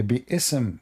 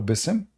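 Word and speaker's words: بسم: This is the correct way to say Bi-ism. There's no Bism.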